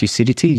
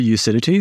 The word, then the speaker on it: Ucidity: So if you go to Ucidity, so essentially the Ucidity is spelled like lucidity, but just get rid of the L at the start.